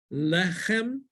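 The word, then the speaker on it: לחם: And the last word, lechem, is bread. Lechem. Lechem. Right? The accent is the next to last syllable, the only syllable, so it's actually the accent is on the le.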